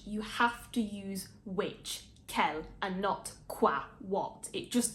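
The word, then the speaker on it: quel: endings of the Kel they all sound the same they have the same pronunciation which is always Kell finally moving on to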